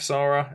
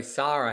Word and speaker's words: Sara: So Sarah, how many people call her Sarah? Oh, everyone. Yeah. Sara is how it's spelled, but everyone calls her Sarah.